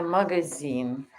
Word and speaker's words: магазин: Ам, Где магазин? Store. Store. Yeah. Где магазин? Store. Magazine is pronounced like a magazine. Magazine, like a yeah.